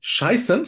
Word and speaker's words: scheißen: But the EI is pronounced I, just like in a vulgar word scheißen, which means to shit.